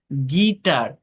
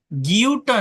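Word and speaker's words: guitar: ই হয়, গিলটি, build, গিটার, গিউটার না কিন্তু, তাই না, গিটার, বিস্কিট, ইউ আই থাকলে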